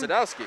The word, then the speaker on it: Sadowski: Sadowski.